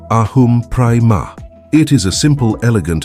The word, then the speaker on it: aham prema: The phrase is aham prema, pronounced ahum prema.